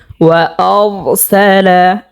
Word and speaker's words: وأرسل: তো আমরা এখানে দেখতে পাচ্ছি র সাকিন ডাইনে জবর হয়েছে, তো র সাকিনের উচ্চারণকে আমরা মোটা করিয়া পড়ব। যেমন ওয়ারসালা, এখানে মোটা করে পড়তে হবে।